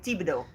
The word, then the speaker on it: Thibodeau: Say it like this. Boudreaux. Boudreaux. Boudreaux. Boudreaux. Boudreaux Boudreaux. and Thibodeau. Thibodeau. Thibodeau.